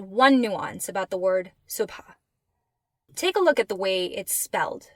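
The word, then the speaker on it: صبح: So based on our letter chart, it should be pronounced sub. And you'll hear it pronounced that way from time to time. But most often, you'll hear it pronounced subha.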